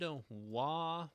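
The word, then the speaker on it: は: time all right here we are the dreaded W particle pronounced as W even though it is written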